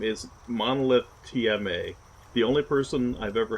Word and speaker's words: Monolith TMA: I've had it happen twice now, actually, where even though it's Monolith capital T, capital M, capital A, I've had two streamers say Monolithtima. So, but for the most